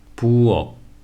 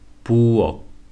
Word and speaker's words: 부엌: However, notice how there is no H sound in the end. In lots of European languages, H is pronounced in the end. For example, in words like cake, tap, and hit. However, in Korean, there is no H sound unless it's followed by a vowel. Again, without any H pronunciation, 묵, 박, 부엌.